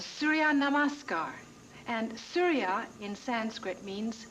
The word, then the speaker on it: Surya Namaskar: It's called Surya Namaskar. And Surya in Sanskrit means sun. Namaskar is sun salutation. Namaskar means salutation. Okay, pronounce it with me, will you?